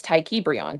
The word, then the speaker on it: Ta'Kiebraion: And it's Ta'Kiebraion. That is my birth name. Okay, but you never came up here and pronounced it like that. Ta'Kiebraion. I did actually. Ta'Kiebraion. Well, I apologize. Ta'Kiebraion. I can't forget it now. Thank you. It rhymes with Freon.